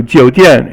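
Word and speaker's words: 酒店: 酒三声 or third tone, 店 fourth tone.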